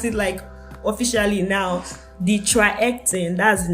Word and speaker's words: TriHealthon: So I wanted to pronounce it officially now. The TriHealthon, that's the name of the organization.